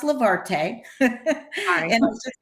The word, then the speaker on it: Levarte: what's been happening in the past year with Levar day travel okay um it's pronounced levarte and I'll just say that real quick you know levarte is e-travel spelled backwards so it's always a